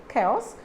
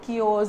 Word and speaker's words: chaos: to be a chaos so it's an actually chaos k chaos it's not cures it's not kaios or anything okay it's chaos so how do you